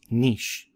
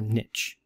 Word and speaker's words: niche: what we call an organism's niche or niche both pronunciations work now an organism's niche